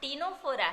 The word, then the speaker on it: Ctenophora: देखो यहाँ टिनोफोरा है लेकिन सी साइलेंट है।